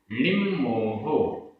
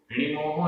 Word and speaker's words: णिम्मोहो: णिम्मोहो, यहां भी आधा मा, णिम्मोहो, णिमोहो नहीं, णिम्मोहो।